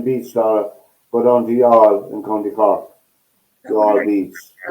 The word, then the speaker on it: Youghal: I put two syllables into that now. I call it Youghal. On Youghal.